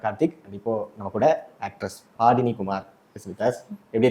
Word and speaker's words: பாடினி: நிறைய பேர் ரொம்ப மாத்தி ப்ரொனவுன்ஸ் பண்ணுவாங்க. ஆமாங்க, பாதினின்னு கூப்பிடுவாங்க, பட்டின் அப்படின்னு கூப்பிடுவாங்க, பட்டினே அப்படின்னு கூப்பிடுவாங்க. சில பேர் புதினாலாம் கூப்பிடுவாங்க. எனக்கெல்லாம் கொஞ்சம் கஷ்டம் தான் அந்த மாதிரி ஒரு நேம் வச்சுட்டு ரொம்ப பண்றது.